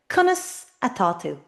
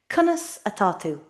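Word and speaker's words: Conas atá tú: Kunis atu. Konus is how at means is and to is you. Kusatu.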